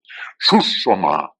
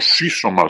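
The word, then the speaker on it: σύσσωμα: Susoma, o sísoma, según se pronuncie, ¿verdad?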